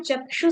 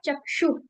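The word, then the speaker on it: चक्षुः: तो ये इफेक्ट हमें मिलता है चक्षु। जब हम कोई भी विसर्ग का प्रोनाउंसिएशन करते हैं। ये जो डॉट होती है इसको विसर्ग कहते हैं। और इसमें हम बेसिकली हवा को छोड़ रहे होते हैं।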